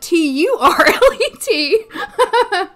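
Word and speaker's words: Terlit: I prefer the T-E-R-L-I-T spelling, but you can also spell it T-U-R-L-E-T. You can spell it either way. It's turlet either way.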